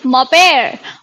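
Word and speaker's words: mon père: ठीक है, लिखते एन मॉम। मॉन है, लेकिन एन साइलेंट होता है। तो मेरे पापा यानी मॉपेर, और मेरी मम्मी क्या बोलेंगे मेरी मम्मी को?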